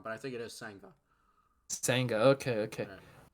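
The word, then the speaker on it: Kodai Senga: You see Sanaga for the Mets. I think that's how you pronounce it.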